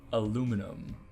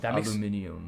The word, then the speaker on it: aluminium: open just a pjs call call naturally naturally aluminum aluminum I know this one is one that